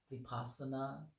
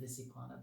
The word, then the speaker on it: vipassana: about things like uh vipassana um i often mispronounce that and say visipana but it's not and there's the zen